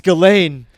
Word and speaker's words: Ghislaine: I didn't realize that's how you say her name. Well, they said Glenn in the movie, but it's not. It's just Ghislaine, right? Ghislaine? Ghislaine or Ghislaine? But it's Ghislaine. not Glenn. Ghislaine.